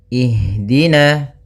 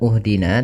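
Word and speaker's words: اهدنا: Ini adalah kita lihat huruf yang ketiganya. Apabila huruf ketiganya fat e maaf kasrah atau fathah, maka kita baca hamzah di awal hamzatul wasalnya itu kasrah. Maka kita baca di sini bukan uhdina tapi ihdina.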